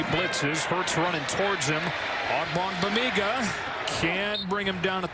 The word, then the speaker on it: Ogbongbemiga: Maybe your favorite name to pronounce this season? Once you get it down, it's a fun one. Ogbongbemiga. Ogbongbemiga.